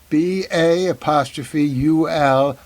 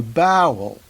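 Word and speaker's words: Ba'ul: The Baul, the predator species on Saru's world, is pronounced by most of the crew, including Saru, who should know just the way it's spelled. B-A''UL, Baul. But at least one crew member refers to the species as the bowel.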